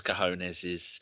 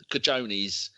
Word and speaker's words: cojones: And do we need a moment's silence for Troy Deeney as he holds his cojones? Or if you're on TalkSport, Cajones, as one of the people who pronounced it as.